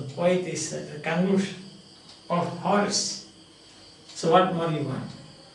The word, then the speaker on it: Horace: Some people pronounce it as Horace, but actually it is Horace.